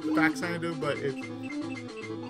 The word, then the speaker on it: Faxanadu: Some people say some people pronounce it Faxanadu, but I pronounce it Fazanadu.